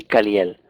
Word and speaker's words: Caliel: Caliel lo dividimos en tres sílabas, nos daría K, Cali, Caliel.